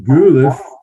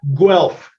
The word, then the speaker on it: Guelph: he was born in Goole well how do you say that Guelph Guelph okay convert the U to a w and you got it Guelph Guelph okay that's